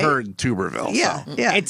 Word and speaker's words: Tuberville: It's pronounced Tuberville, not Tuberville.